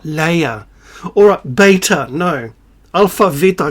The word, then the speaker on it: Leia: I don't know why you Americans mispronounce words. I don't. Je ne comprends pas. Leia, not Leia.